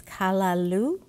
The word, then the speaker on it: callaloo: this Jamaican rice recipes that it it's the pronunciation is callaloo so some people use those spinach Alternatives if